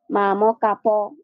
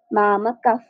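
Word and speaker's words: মামকাঃ: যেমন মামা কাফ মামা কাফ। আমি কিন্তু এখানে মাম কাপ বলি নাই। মাম কাফ।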